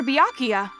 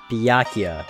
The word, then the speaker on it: Byakuya: I have to save Master Byakuya. Right. Byakuya, that's how you say it, not Byakuya.